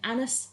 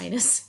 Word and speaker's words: annus: out to be an annus horribilis, which is Latin for a horrible year. Which, you know what? I get why. Yeah. It's like, she says anus horribilius, or however Annus, it's pronounced. not anus.